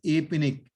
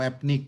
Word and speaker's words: APNIC: about our region so this apennic or apnic some different ways of pronouncing like asia pacific region